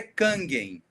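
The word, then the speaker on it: Kangen: É o filtro canjem. Cangem, né? Cangem. Tem gente que fala canem, deve ser o nome certo. E algumas pessoas, a pronúncia em em japonês é Kangem.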